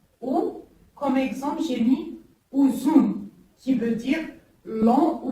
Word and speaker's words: uzun: Il se prononce OU. Ou, comme exemple, j'ai mis uzun, qui veut dire long ou bien longue. C'est une taille, par exemple, long ou longue. Ou, uzun.